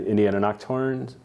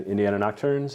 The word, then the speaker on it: Nocturnes: author of Dream Wilderness Poems and Indiana Nocturnes. Shit, I said it wrong. It's okay. Indiana Nocturnes, and this is This or That.